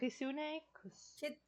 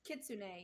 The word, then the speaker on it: kitsune: Um, Kisune? Kitsune, yeah.